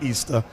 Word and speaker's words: Ishtar: became known as Easter Ishtar which is pronounced Easter and her moon egg